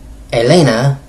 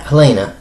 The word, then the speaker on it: Elena: world's greatest Fighters and Elena yes not Helena it's Elena they don't pronounce the h believe it or not unless the trust for